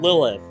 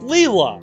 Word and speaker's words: Lila: holy i have been reading her name wrong this whole time i could have sworn her the name tag thing said lilith no it's lila jesus oh my god people